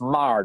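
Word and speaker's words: Meagher: it's pretty cool uh it's mar not meager he's right he blew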